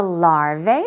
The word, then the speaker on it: larva: lar a-okay larvae larvae there are many ways to pronounce it but this word singular form is larva lar VA is talking about pond